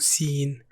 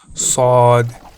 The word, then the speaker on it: صاد: It's kind of like a really strong S sound made with the back of your tongue. Pause the video. You're a pronunciation pro. Sod. Sod. Outstanding. Not seen.